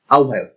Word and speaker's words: আহ্বায়ক: এই ক্ষেত্রে একই অবস্থা, অনেকে এই শব্দটিও ভুল উচ্চারণ করেন, আহ্বায়ক উচ্চারণ করে না, আহ্বান বা আহ্বায়ক এরকম উচ্চারণ করেন, আসলে সঠিক উচ্চারণটা হচ্ছে আহ্বায়ক।